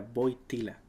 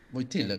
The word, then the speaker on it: Wojtyła: Quise hacer una corrección, pronuncié mal el apellido, era Wojtyła. Wojtyla, claro, Hoy claro, día me Wojtyla.